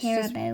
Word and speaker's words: caribou: It's caribou. Just caribou. It's hard to pronounce.